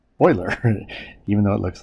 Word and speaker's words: Euler: euler euler's method is the name euler is pronounced boiler even though it looks like euler okay so